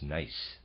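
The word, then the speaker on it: gneiss: been pronouncing it nce I apologize the correct pronunciation is nice and the readers aside I did tell you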